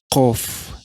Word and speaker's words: Qaf: Huruf ke-19 adalah Qaf yang berbunyi K. Pengucapan Qaf berbeda dengan Kaf yang dimana pengucapan Qaf lebih dalam sedangkan pengucapan Kaf seperti K biasa.